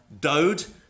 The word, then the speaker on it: DODE: In Canada, we have the DODE, which is to rhyme with node, the Delorme Ostracod Horticological Database.